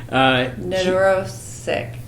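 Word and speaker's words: Nedoroscik: Neurosick.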